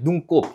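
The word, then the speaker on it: 눈곱: 눈꼽 얘는 뭡니까? 눈살이라고 발음해요.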